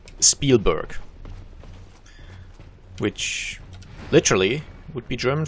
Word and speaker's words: Spielberg: which are, funnily enough, supposed to be pronounced in a fairly German manner, because just the language origins are fairly similar. I think it's Yiddish, where a lot of the names come from, and yeah, that's just... that's just how you're meant to pronounce them, like Spielberg, which literally would be German for Play Mountain.